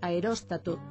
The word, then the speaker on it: aeróstato: Isto explica que da mesma maneira que dicimos apóstata, en galego correcto digamos aeróstato, reóstato e termóstato.